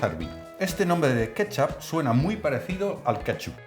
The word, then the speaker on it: kecap: Se pronuncia ketchup y en Asia se escribe con C y en holandés con TJ, así cuando se lee suena igual.